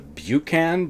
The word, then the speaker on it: Buchan: I'd never heard it I know how to pronounce Buchanan so it was a Buchan but I've checked it Buchan am i right John Buchan set during